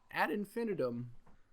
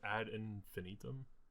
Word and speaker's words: ad infinitum: want to go yeah ad infinitum you just boy over singh the pronunciation though what did I say isn't it ad infinitum then I put the emphasis on the wrong syllable for you you might